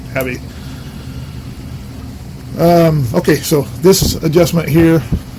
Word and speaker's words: Abbe: I know in German I think it's pronounced more like Abe, but this is America, so I'm saying Abbey.